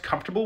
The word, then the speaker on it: comfortable: have you ever noticed that we pronounced comfortable with the letters all jumbled around as if the T was before the or why is that in